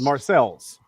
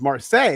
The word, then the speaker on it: Marseilles: There's there's another city here in Pennsylvania real close to Dubo called Marcel's. Of course it's Marseilles. Marseilles Marseilles but no Marcel's PA. That's what everybody calls it.